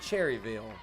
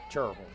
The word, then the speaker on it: Cherryville: Some people from out of state would call it Cherryville. They call it Cherville.